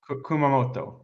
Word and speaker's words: Kumamoto: tournament up against Starfleet uh how do you pronounce that Kum Kumamoto Kumamoto Kumamoto okay Kumamoto going up against uh D Dempsey